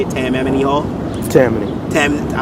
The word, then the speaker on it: Tammany Hall: Well, I mean, not me performing personally, but I'm gonna be at Tammany Hall. That's how you say it, Tammany Hall. Tammany.